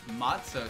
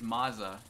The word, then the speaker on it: matzo: Matzo sticks. No, matza. Well, there's no T in it. I think it's mazza. Yeah, like mozzarella cheese.